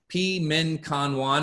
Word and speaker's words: Pi Min Kan Wan: So Pi Min Kan Wan is the Chinese herbal formula for allergies. It's spelled P-E-M-I-N K-A-N-W-A-N if you're interested.